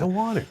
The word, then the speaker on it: Iwanyk: that's where I'm more like compared to the Iwanyk on a jersey. How come people call you Iwanyk? Because I don't correct people. Even LTE calls you Iwanyk, A lot of people do. but it's Iwanyk.